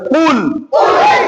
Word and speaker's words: قل: বলেন, কুল সুন্দর করে কুল, আবার বলেন কুল, আবার বলেন কুল। গলার মাঝখান থেকে কফের উচ্চারণ সুন্দরভাবে উচ্চারণ করতে হবে, কুল।